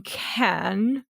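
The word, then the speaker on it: Cannes: it hardcore flapped in Ken that's how it's supposed to be pronounced a mixture of Ken and can which is which is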